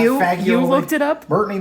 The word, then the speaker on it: fagioli: It's not fagioli. You looked it up? Brittany looked it up. It's not fagioli, it's fagioli. So pasta e fagioli.